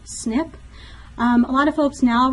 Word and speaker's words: SNP: with single nucleotide polymorphisms it's abbreviated SNP and it's pronounced snip a lot of folks